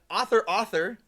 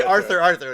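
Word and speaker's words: Author! Author!: Thriller um and then author author I said it right author author yeah that's the last time he's gonna say that he'll it up I always say Arthur Arthur I said Authur Arthur I think we I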